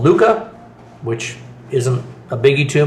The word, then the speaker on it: Luke: Um like I said, I'm I'm my name Lu K in English is pronounced Luke." But if you know anything about espanol, E are pronounced as an A. So, I'm often called Luca, which isn't a biggie to me.